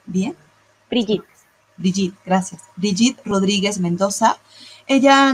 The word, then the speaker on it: Brigitte: La ponente se llama Brigitte, si ¿sí estoy pronunciándolo bien? Brigitte. Brigitte, gracias.